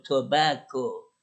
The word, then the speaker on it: tobacco: un préstamo del español, por eso la pronunciación no se apega mucho al inglés, que sería, entonces por eso tobacco, casi la misma pronunciación que en español.